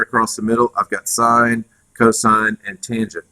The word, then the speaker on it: sine: Sine is spelled S-I-N-E, and it's abbreviated because mathematicians are really, really busy and can't be troubled to write all four letters, so it's abbreviated with S-I-N, and we say sine.